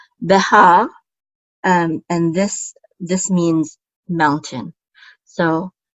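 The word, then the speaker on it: בָּהָר: And then we have a hey with a patach, which says ha, and then a resh, and so that completes the syllable. So we say ha, Behar, and this means mountain.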